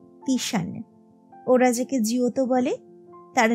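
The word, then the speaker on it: Titian: কবেকার তখনই বোঝা যায় ওরা যাকে টিসিয়ান বলে জানে তার নামের আসল উচ্চারণ নাকি তিশান ওরা যাকে জিওত বলে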